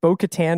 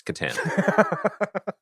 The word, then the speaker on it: Katan: not Al Wars comic batan says is it batan or Katen am I pronouncing am I doing it the proper Star Wars pronunciation it's pronounced like the co-star of the night at the rockberry it's Katan they're related yeah he is he was born